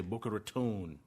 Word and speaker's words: Boca Raton: This is a REIT out of Boca Raton, or as the locals say, Boca Raton.